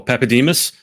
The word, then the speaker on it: Papadimas: Now, how do I pronounce this? Papademus.